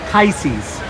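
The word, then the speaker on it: Chysis: Chisis. It's a chisis. So the H is silent.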